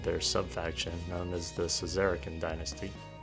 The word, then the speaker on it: Szarekhan: from the Egyptians and words beginning with SZ in ancient Egyptian are pronounced as sh however with that in